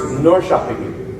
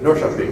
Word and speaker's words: Norrköping: It's pronounced Norrköping. Norrköping.